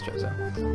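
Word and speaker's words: Chozo: was a I've always I always said Koo but I'm pretty sure it's choso um it was a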